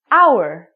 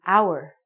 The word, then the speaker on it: hour: For example, the word hour. We do not even say the H word. It sounds like we're saying hour. So, because this word hour sounds like a vowel, because the H is silent, we have to say an hour.